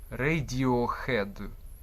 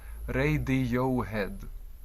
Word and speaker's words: Radiohead: Way і між іншим теж припиніть хикайтеся не редью охед звука х немає в англійській мові найближчий аналог